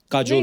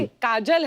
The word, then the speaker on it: काजोल: बड़ा यूनिक नाम है आपका, काजोल। काजल है ना, but काजल होता है, काजोल हाँ, मतलब बंगाली में काजोल। बंगाली में ऐसे बंगाली में लिखते हैं। ऐसे उसका प्रोनाउंसिएशन है पर सर।